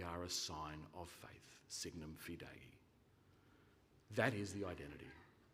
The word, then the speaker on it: signum: Signum, dropping the U I'm happy enough to put up with. Signum, never signam, but signum's fine.